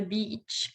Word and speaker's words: beach: Again, it's a long E sound. Длинный звук И. Обязательно очень важно его тянуть. Ни в коем случае не делать его коротким, особенно в слове beach.